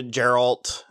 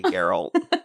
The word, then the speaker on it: Geralt: And then she ran into Geralt, and it's a hard G. It's Geralt. Okay, Geralt.